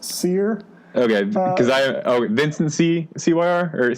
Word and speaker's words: Cyr: I think it's pronounced Sear.